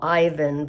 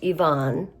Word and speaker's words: Ivan: The middle brother is what I would call Ivan, but it's pronounced Ivonne.